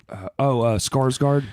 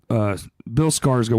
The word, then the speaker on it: Skarsgård: Skarsgård. Yeah, it's like, actually pronounced like score. Yeah, well, but nobody says that because it's like a soft A.